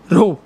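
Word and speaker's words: rho: this इ Greek letter this इ Greek letter pronounce करते हैं आर एच ओ रो रो ठीक है तो य एक और फार्मूला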